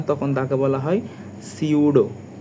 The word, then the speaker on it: pseudo: সিউডো বানানটা হচ্ছে এরকম, পি থাকে কিন্তু পিটা উচ্চারণ হয় না, PSEUDO।